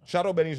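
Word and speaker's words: chadon beni: Yeah, oh no, so it's Shadow Benny's right. Shadow yeah. Benny's right. You don't it's spelled Shadon with an N. Okay. But it's pronounced, you're pronouncing it right.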